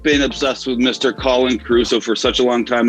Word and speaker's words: Caru: Caru.